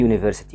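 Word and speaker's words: university: برض على سبيل المثال كلمه يونيفرسيتي يوي فير سيتي بدا بحرف اليو وده حرف متحرك الطبيعي ان احنا نقول ان بس كده تبقى غلط ليه المفروض ان احنا نقول اي يونيفرستي والفكره انك انت بتنطق دي بحرف الواي والواي من الحروف ساكنه واحده كمان برض كلمه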